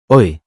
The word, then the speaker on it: hoy: But when the letter Y is at the end of a word or standing alone, it's pronounced E.